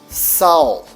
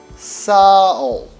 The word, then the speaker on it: Sağ ol: The G in the middle is silent G and makes the vowel comes before it a bit longer, as in sowl, as if the A sound is longer.